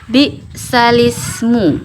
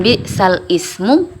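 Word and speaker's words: بئس الاسم: ini naqal yaitu memindahkan di sini kan tulisannya bal Ismu nah di alhujurat ayat 11 ini tapi dibaca bismu gu ya Jadi bukan bmu tapi bism nah cara bacanya seperti itu jadi dipindahkan yang tadinya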